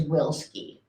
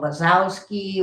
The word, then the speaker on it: Wilski: My maiden name is Wilski. So I got called Wasowski. Wasi. Whiskey. Wasowski. was out.